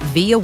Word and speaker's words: Vija: Well, first of all, it's pronounced Vija, but there's a J in there.